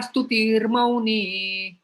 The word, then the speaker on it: स्तुतिर्मौनी: उसका उच्चारण हमें पहले करना होता है र। तुल्य निंदा स्तुतिर्मौनी, तुल्य निंदा स्तुतिर्मौनी, संतुष्टः, संतुष्टः, संतुष्टः, संतुष्टः, येन, येन, येन।